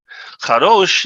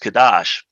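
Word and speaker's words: Kadosh: the realm of Heroes kados is Hebrew for holy or sacred but more often than not in Masonic circles it is pronounced kadash the significance herein is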